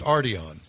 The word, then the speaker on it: Arteon: That But you didn't tell us how to pronounce Arteon or Arteon. We we think it's it's Well, according to Mars, it's Arteon.